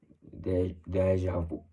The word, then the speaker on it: déjà vu: little bit more, but the more correct pronunciation would be always the one that is more closest to the root of the word, déjà vu.